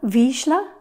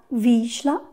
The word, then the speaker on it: Vizsla: painting on wet paper i painted a viscera this week i hope that's how you pronounce it i looked it up and listened to some hungarians and i think that's how they said it ah vijla i'm going to use this